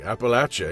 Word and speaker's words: Appalachia: and Appalachia even just to know how to pronounce it properly Appalachia you know I learned so much working on